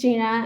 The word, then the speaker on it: Xinran: My name is Gina. I know this is a name that's kind of hard to pronounce, but the trick is that the X is pronounced like SH.